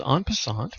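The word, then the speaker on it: en passant: learn about and it's called anant from the French with my American pronunciation and it roughly means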